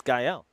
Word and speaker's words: Gael: Is it Gael? It's Gael.